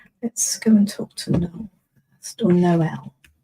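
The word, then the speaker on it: Noël: And then let's go and talk to Noel first, or Noel. In the UK, it's Noel spelled like that. Noel would be Noe. In French, that is Noel because Noel means Christmas.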